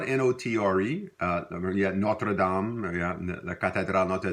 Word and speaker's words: notre: But we typically in Louisiana French, we don't pronounce the R-E at the ending, except maybe make a liaison when it's followed by a vowel. So you would hear like notre garçon, our boy, our